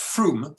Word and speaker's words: Frome: In the town of Frome, it's written Frome, it's pronounced Froome in Somerset.